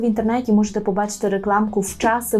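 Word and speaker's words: wczasy: таке слово як час в часи Зверніть увагу що пишемо на початку букву в Так але вимовляємо її як ф в часи вчасно це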